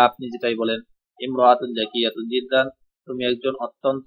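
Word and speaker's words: امرأة: এখন ইমরাআতুন এক শব্দের ব্যবহার দেখাচ্ছে, দেখেন। শুরুতে আলিফ মানে আলিফের উচ্চারণ লেখায় আসবে, পড়ায় আসবে না।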